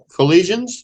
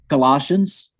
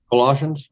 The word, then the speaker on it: Colossians: read it for me a colleague collisions is that how you say it Colossians Colossians okay 116-7 King James version